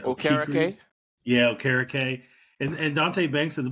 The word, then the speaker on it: Okereke: Yeah, Okereke.